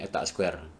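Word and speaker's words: eta squared: Isek size etak Square ini bacanya etak Square jadi solusinya Bagaimana yang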